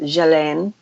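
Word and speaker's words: Ghislaine: looks like just laying Maxwell but evidently it's pronounced jillaine Jolyon Maxwell so he's English Robert she's English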